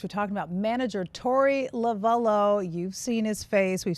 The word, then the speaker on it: Lovullo: Phonetically, I think it's supposed to be Lovullo, but my grandma had such a heavy Italian accent that she could barely get it out. So it's just Lovullo.